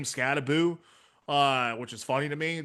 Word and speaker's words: Skattebo: Cam Skattebo, which I've come to find out is actually how you pronounce his name, Skattebo, which is funny to me.